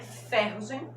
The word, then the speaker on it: ferrugem: É ferrugem, ferrugem, ferrugem, ferrugem, ferrugem. Olha a força no ru.